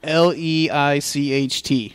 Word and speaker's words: Leicht: Because crazy German spellings and their crazy pronunciations and their crazy Germanness. It's not really all that crazy. L-E-I-C-H-T, Leicht.